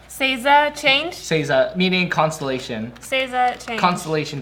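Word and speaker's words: 星座: It's Seiza. Seiza Change? Seiza, meaning constellation.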